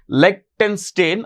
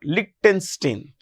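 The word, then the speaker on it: Liechtenstein: member so Switzerland Norway you can pronounce it as lonstein or lonstein lonstein and Iceland lonstein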